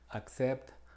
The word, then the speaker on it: accept: Pero cuando procede a la E, I o a la Y, se tiene una pronunciación como KS, como las palabras que vemos aquí. Accept, accidental, coccyx.